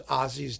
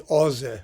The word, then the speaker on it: Åse: And it's wonderful to compare it to the previous work in the suite, which is Ozzy's Death, or it's pronounced actually Åse, I understand, from some